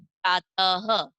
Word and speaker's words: प्रातः: जैसे एक शब्द मैं आपको बताती हूँ, प्रातः। तो प्रात के आगे जब मैं दो बिंदी लगा दूंगी ना, तो उच्चारण के टाइम हम ह की ध्वनि निकालेंगे। और कैसे बोलेंगे इसको? प्रातः, ठीक है।